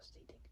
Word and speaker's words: ceding: So seeding, I can't really say, but it's spelled CEDING control, but it makes for more authentic and organic interaction with fans.